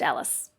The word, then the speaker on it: Alis: definitely don't remember thank you so it is pronounced alice awesome thank you so much all right so